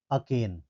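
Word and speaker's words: arcane: अक्रेन का अर्थ होता है इसका प्रोनाउंसिएशन क्या हो जाएगा अकेन ठीक है अकेन आर साइलेंट हो जाएगा ठीक है अकेन अकेन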